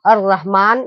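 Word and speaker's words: الرحيم: इस लाम को साइलेंट रख देंगे, ऐसे पढ़ देंगे, अलिफ को डायरेक्ट इसमें मिला देंगे, ये लाम को क्या कर देंगे? छोड़ देंगे। अर रहीम, इसको पढ़ेंगे क्या? अर रहीम, ठीक है।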